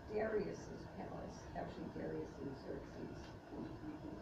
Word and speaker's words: Xerxes: Xerxes is pronounced with a Z, it's spelled with an X.